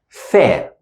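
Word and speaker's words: ث: top we pronounce it with my tongue out Fair this one is equivalent to the unvoiced th English sound because this one is equivalent to the unvoiced English th sound Fair like in the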